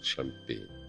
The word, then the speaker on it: Champaigne: французском живописцев ломан происхождение п де Шампань иногда произносится шампейн пока-пока до свидания